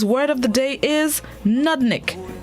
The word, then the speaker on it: nudnik: day this morning's word of the day is nudnik nadnik it's spelt nud nudnik it is a known which